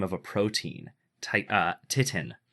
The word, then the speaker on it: titin: Titin. Titan. It's the what? Titan. Titin. Titan. You're wrong. It's not got an A. It's got an I. Anyway, I know. it's titin, the largest protein.